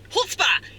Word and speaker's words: chutzpah: It's the Jewish word. Chutzpah. Chutzpah. Yes, they have a chutzpah. That's how you say it.